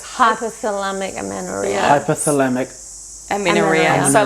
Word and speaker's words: hypothalamic amenorrhea: do you say it yeah it's hypocellamic amino hypothalamic aminoreal so like hypothalamic just to dumb it down